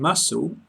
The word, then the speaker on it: muscle: In muscle, SC is S.